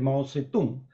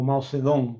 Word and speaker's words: Mao Zedong: tras la muerte de Mao tse tung o Mao zedón como se pronuncia ahora porque ahora se traslitera de manera fonética y claro es suficientemente